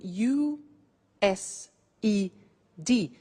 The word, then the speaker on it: used: now this verb used to well it's written u s e d but the pronunciation is used and we'll see that on